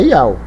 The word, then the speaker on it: יהו: Só que ele não pronuncia o Yahu. Eles pronunciam Iau. Então a pronúncia é Iau.